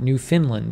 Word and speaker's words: Newfoundland: okay Lynn Halifax says if you are from the Atlantic Province we pronounced Newfoundland New Finland and say it best say it fast our Newfoundland Arizona jumper